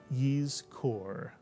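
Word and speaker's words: יזכור: So the first syllable would look like this, and it would be pronounced yiz, mitsuyan, yiz. And the second syllable is easy, kor, mitsuyan. Put the word together, you get yiz kor.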